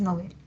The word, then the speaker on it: novel: A ver, novel es aguda, aunque yo la pronuncie grave, pero debo atender a lo que dice el DPD. El DPD me dice que se recomienda su uso agudo porque proviene del francés, que es novel.